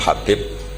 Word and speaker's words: Habib: yang nulis Abi Abdurrahman Habib asulam itu di harakatnya kitab itu ada yang nulis hub yang benar Oh giih yang benar itu bacanya habib habib itu asulami itu ikut